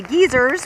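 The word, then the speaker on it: Geysir: on our way to the geezers which is the actual pronunciation of the geyser but all underneath here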